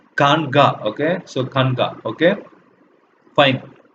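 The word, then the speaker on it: khanqah: Okay, so this is pronounced as Kanga.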